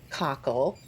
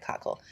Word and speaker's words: cockle: that is another Atlantic giant cocko I have to ret myself sorry about that if I taught you guys how to say it wrong too my apologies it is a Atlantic giant cockle oh this was a